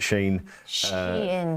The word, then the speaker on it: Shein: Is that how you pronounce it, Shein?